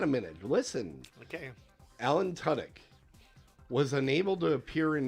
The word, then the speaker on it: Tudyk: Alan Tudyk, which is the correct way to pronounce the name.